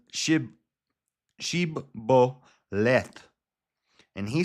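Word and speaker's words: shibboleth: So, it's shib sheboleth and he said sboleth. It's sheboleth and he said sboleth for he could not frame to pronounce it right.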